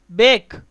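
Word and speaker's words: bake: உதாரணமாக பேக் இந்த வார்த்தையில் ஈயை நாம் உச்சரிப்பதில்லை.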